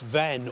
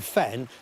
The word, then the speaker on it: Vann: Vann, sometimes pronounced Venn or even Fen, means bog, and that's thought to relate to an ancient settlement below the Surrey sandhills.